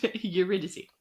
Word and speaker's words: Eurydice: Thank you, because I'm still having trouble pronouncing that girl's name. Eurydice.